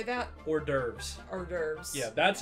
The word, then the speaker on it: hors d'oeuvres: Season the horror divorce at your next masked ball. I'm sorry, what the fuck did you just say? How do you say that? Hors d'oeuvres.